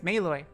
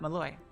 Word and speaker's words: Maloy: Now I know Maloy is Maloy, not Malloy. I'm glad.